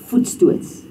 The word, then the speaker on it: voetstoots: So jy koop die kar voetstoots. Sê dit? Jy koop die kar voetstoots. Voetstoots. So remember there's the oe klank and that's a oe.